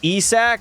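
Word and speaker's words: Isak: Isaac Rosen is pronounced ESAC.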